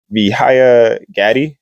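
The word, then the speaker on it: Vijaya Gadde: hearing with representative Nancy mace he's talking to vihaya Gaddy um I know that's how she pronounced it in the video so that's why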